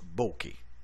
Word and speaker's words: bokeh: Ça se prononce bokeh.